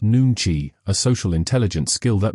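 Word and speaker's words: 눈치: Koreans practice nankai, pronounced nuni, a social intelligence skill that means the ability to read unspoken emotions and adjust instantly.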